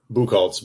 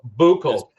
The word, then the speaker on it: Buchholtz: Buchholtz, but that's fine. Buchholtz. That's like Booker. Buchholtz. Again, in Kentucky, that would be Buchholtz.